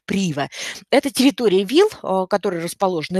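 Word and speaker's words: Privé: при его то есть в принципе читается но по правильному club prive но вот представители отеля говорят о том что правильно называется club прево это территории wheels которые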